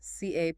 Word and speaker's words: capricious: Capricious, stress. Stress on the second syllable. Capricious. 3 syllables.